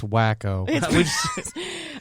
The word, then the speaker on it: Waco: we just started waco it's pronounced wacko i think if jen